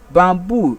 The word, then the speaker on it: bamboo: Then bamboo is also a noun word. It takes its stress on the second syllable. This is why we have the syllable boo, because the u here is long u.